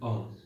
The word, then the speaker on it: Om: Kata Om itu berasal dari 3 kata. Ada kata A, U, M, Ang, Ung, Mang, yang digabungkan menjadi Aum dan diucapkan menjadi Om.